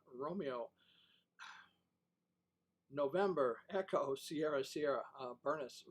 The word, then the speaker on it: Bernice: Bernice rhymes with furnace.